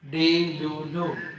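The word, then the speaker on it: delulu: The E in the first syllable is likely I in sit, pit and bit, and the U in the next two sounds like the U in cool.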